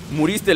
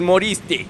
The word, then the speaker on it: moriste: Muriste, le iba a decir, pero no. Es moriste. Así se pronuncia.